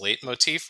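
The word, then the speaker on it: leitmotif: concept of motif there's a longer version of the term which is late Motif which is spelled funny and usually refers to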